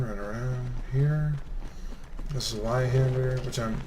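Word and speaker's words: Zweihander: around here this is why hander which I'm this is by hand or is how it's pronounced I'm that's my main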